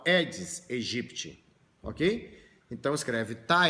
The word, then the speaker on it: Aedes: fala tenha assim como o mosquito não é aedes se escreve é disse mas você fala é diz egypt ok então escreve